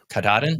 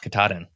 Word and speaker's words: Katahdin: Katahdin. Yeah. Katahdin. Yeah. So I appreciate the pronunciation now.